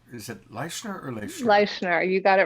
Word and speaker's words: Leischner: And then her last name is spelt Leischner. Shannon Leichner, or is it Leichner or Leichner? Leichner, you got it right.